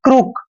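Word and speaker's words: crook: first word देखिए दोस्तों सी R double O के देखिए जब भी सी के बाद कोई कंसोनेंट आता है तो सी का उच्चारण हमेशा क करते हैं और आर का उच्चारण दोस्तों हम र करेंगे डबल ओ को उ की मात्रा पढ़ेंगे और के का उच्चारण क करते हैं यानी कि क्रुक दोस्तों क्रुक होता है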